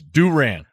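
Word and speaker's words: Durant: And the other one's Duran. Like Roberto Duran, right?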